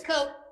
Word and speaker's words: Koch: I'm sorry, are you Coke or Coach? Can you hear me? Yes. Sorry. I'm sorry if I admin- mispronounced your name. Is it? It's Coke. Coke like the Coke. soda, and I Okay, appreciate all right.